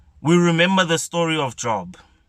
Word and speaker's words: Job: remember the story of job job job however you pronounce his